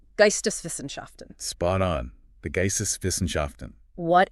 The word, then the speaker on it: Geisteswissenschaften: But he was also steeped in this other academic tradition, let me get the pronunciation right, Geisteswissenschaften.